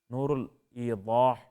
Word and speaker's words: نور الایضاح: کتاب ہے نور الایضاح، نور الایضاح، ضاد سے ہے یہ، اب اردو میں تلفظ کریں گے تو نور الایضاح بھی کہہ دیں گے، ٹھیک ہے، اس طرح اردو کا تلفظ بھی درست ہے۔ تو کتاب نور الایضاح